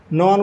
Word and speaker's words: know: नॉन को कनोन बोलोगे। नॉन होता है नॉन यानी जानना, उसको बोलोगे कनोन, क्योंकि उसके आगे के साइलेंट रहता है।